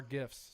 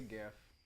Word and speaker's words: GIF: I say GIF Yeah, that sounds right. I say GIF Because- because it sounds easier. because Like a Jif Jiffy. peanut butter is spelled with a J.